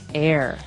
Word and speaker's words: heirs: pod and to his heirs this is our next word what is an air now if you notice the H is silent there so his airs and